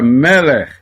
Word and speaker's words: melech: Este shevá é mudo, ele está marcando, está pontuando que existe aqui uma consoante sem vogal. Lê apenas o som da consoante.